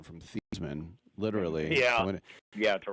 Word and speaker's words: Theismann: But the thing that I always point out, and that kills Joe Theismann because he changed his pronunciation from Theismann, literally.